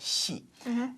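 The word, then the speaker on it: 係: the word hai, well, pronounced hai in Cantonese, but in Mandarin it's pronounced xi, and to mean is.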